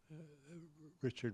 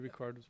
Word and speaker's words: Ricard: also a team of people I think Matthew Richard was also there yeah Matthew Ricard Wasa yes sorry I said his name wrong um anyway I was able to interview